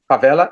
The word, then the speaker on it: favela: favela is that how you say it favela favela yes uh so these are these are areas